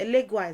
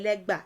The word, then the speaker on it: Legba: it's somewhat like that it's a legway is a mispronunciation of a legba and elega is what